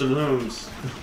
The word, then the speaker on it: Lums: in our comments like in the manual it's pronounced looms okay that's I I